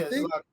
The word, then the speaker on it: Zlatan: So when it comes to this guy, how do you pronounce his name? Zlatan? Yeah, Zlatan.